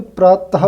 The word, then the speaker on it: प्रातः: जैसे यहाँ पर एग्जाम्पल, इसको देखिए, प्रातः है, तो जब हम इसको पढ़ते हैं तो प्रातः पढ़ते हैं, प्रातः।